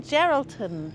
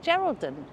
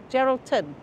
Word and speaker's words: Geraldton: I did it's lovely here so this is geraldin Geraldton Geraldton keep saying it wrong Library over there and